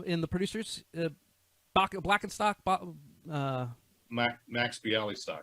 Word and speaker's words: Bialystock: Max Bialystock. Bialystock, that's right.